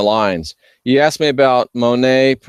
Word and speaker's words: Monet: You asked me about Monet, pronounced just like Claude the painter.